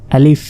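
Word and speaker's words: ألف: শেষে আলিফ আলিফ বলে আসলে এটা আলিফ আলিফ আর আলিফে কোন টান নেই এটা দ্রুত বলতে হবে আলিফ এখানে দেখুন ক্রস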